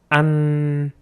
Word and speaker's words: ăn: So we don't forget to shorten the sound inward, like ăn.